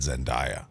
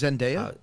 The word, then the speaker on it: Zendaya: I just learned yesterday that that's how you say it. I always said Zendaya. I did too. It's Zendaya. Zendaya, yeah.